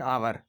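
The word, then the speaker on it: hour: कुछ शब्दों में एच साइलेंट होता है इसलिए एन लगता है, क्योंकि एच साइलेंट होने की वजह से उसका साउंड बदल जाता है। एन ऑनेस्ट मैन, एक ईमानदार आदमी। एन आवर, एक घंटा। इसमें एच साइलेंट है इसलिए उसका जो साउंड है वो बदल गया है।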